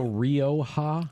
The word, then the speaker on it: Rioja: So this particular So Rioja? Rioja. Rioja. Gotta roll your Rioja. R. Rioja. Rioja.